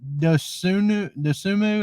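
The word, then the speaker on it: Dosunmu: How do you say Ao Dosumu?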